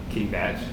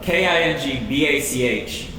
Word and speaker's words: KingBach: King Batch. Yo, it's spelled Kingbach. What's the famous composer from history where his name's spelled Bach? Bach. Yeah. King Bach. Everyone calls him King Batch. That's not right.